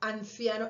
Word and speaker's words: anciano: En el caso de anciano, anciano, en mi dialecto, esa N ya la estoy pronunciando entre los dientes.